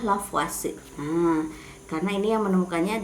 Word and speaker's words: Lavoisier: Di sini sebetulnya penulisannya Lavoisier tapi dibacanya Lavoisier.